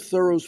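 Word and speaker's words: Thoreau: And in a 1918 letter from Edward Emerson, son of Thorough's friend W Ralph Waldo Emerson, we always called my friend Thorough. The H sounded and the accent on the first syllable he wrote.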